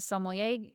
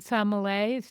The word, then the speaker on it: sommelier: taster, and You're a sommelier. I forgot that. yeah, I did take it in that direction. But before I did the sommelier, Oh, I said it wrong. Sommelier.